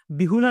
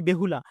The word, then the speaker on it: বেহুলা: প্রশ্ন তারপ আমাদের বিহুলা বিহুলা নাকি বেহুলা ঠিক আছে একদিন স্যার এটাকে বলতো উচ্চারণ করত বিহুলা বিহুলা কিন্তু এটা কিন্তু বিহুলা না এটা আমাদের অরিজিনালি উচ্চারণ হল বেহুলা ঠিক আছে বেহুলা যেটা